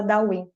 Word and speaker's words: Daoyin: Se escreve Taoyin com T de tatu, mas se fala Daoyin, né?